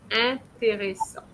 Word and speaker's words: intéressant: En is en, not in. So you're going to say intéressant.